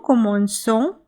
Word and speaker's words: commençons: of the present tense in order to make C sound S. Without the cedier, the C would be pronounced K.